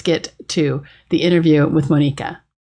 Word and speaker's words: Monika: serve what's going on my name is actually pronounced monica in my mother country so sorry no worries